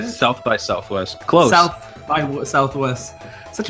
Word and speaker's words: South by Southwest: Today we're going to be talking about the Sonic Anniversary Panel at the Southwest by Southwest. Is that what is how you say it? South by Southwest.